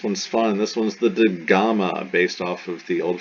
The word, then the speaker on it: gamma: on so we have gamma gamma translation this is a ga and it's like get never soft never ja never like the g in gem it's always ga a hard g dalet becomes the greek